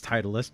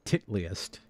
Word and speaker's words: Titleist: Now, I didn't mean it as Titleist because this is a reference that goes back to Beavis and Butthead, because back in Beavis and Butthead they were on a golf course, and Beavis pronounced it Titliest.